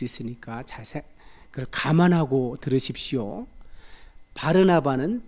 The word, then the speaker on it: 바르나바: 바르나바는 바나바겠죠. 바나바 원래 바르나바라고 발음하는게 맞아요. 아라모 발음이 정확하게 바르나바니까 나바의 아들.